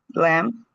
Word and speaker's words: lamb: dot dumb lamb lamb num. Okay, this is very easy because we don't pronounce the last letter.